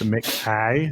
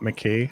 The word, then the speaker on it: McKay: So fun fact, most people pronounce my surname wrong as well. It is McKay, not McKay, although I won't judge you if you say it wrong.